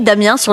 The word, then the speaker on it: Damiens: Euh Damiens avec un S parce que là-bas on prononce tout avec un S.